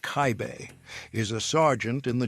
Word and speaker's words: Kaib: Eduard Kaib, pronounced Kaibe, is a sergeant in the German army, a non-commissioned officer.